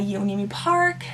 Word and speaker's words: Yeonmi Park: to Live, and I think this is by Yeonmi Park. That's how you pronounce her name.